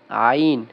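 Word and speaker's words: عين: যেমন যেমন দেখেন ২ নম্বর মাখরাজ হলকের মধ্যখান হইতে আইন হরফটা দেখেন একটু বড় করে দেখাই আমি এই জায়গায়। হ্যাঁ, এই যে হচ্ছে আইন, তারপরেরটা হা। দেখেন কোনো নোক্তা নেই, একটা হরফেও কোনো নোক্তা নেই। তাহলে কি হবে? জিহ্বার মধ্যখান হইতে কি মানে কি কই হলকের মধ্যখান হইতে আইন এবং কি হবে? হা, এই দুইটা হরফের উচ্চারণ হবে।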